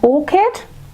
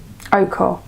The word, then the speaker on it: ochre: And then I will be using the Red Orchid. Ochre. I keep saying orchid, I'm saying it wrong, sorry.